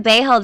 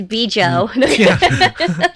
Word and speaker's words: Bejo: I've been calling again Bay held this whole time so you can't correct me anymore it's whatever you fancy it's be Jo be Jo they had a difficult